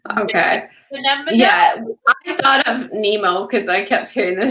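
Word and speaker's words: mnemo: it yeah they said i think they're a nemo in the book i mean in the audiobook yeah they're they're spelled like m-n-e-m-o so i was like okay yeah i thought of nemo because i kept hearing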